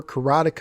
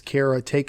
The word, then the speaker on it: Karateka: for karateka or caretaker and I think that's how the author Jordan Beckner says you pronounce it as Kara take I could be mistaken there but I did post a video on my facebook page in some other places as well that showed him discussing how you pronounce it and in the end what he says was say it however you want so I'm he switch